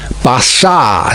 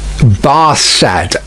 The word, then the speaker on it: Barsad: Bassard, said Defarge, making it French by pronunciation. But he had been so careful to get it accurately that he then spelt it with perfect correctness. Barsad, repeated Madame.